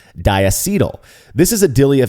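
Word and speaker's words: diacetyl: according to the dictionary in Wikipedia it's actually pronounced dietal this is a Dilly of a pickle I wish I were arrogant enough to call people wrong for pronouncing it dial but uh who wants to be that guy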